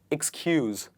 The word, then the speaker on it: excuse: Ooze, use, cues, excuse. It does not start with eh. It starts with I.